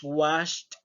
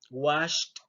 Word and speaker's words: washed: Entonces la terminación ed la vamos a pronunciar como una letra T. En este caso tenemos held, held. Tenemos looked, looked. Tenemos loud, loud, lost, lost. Tenemos washed, washed.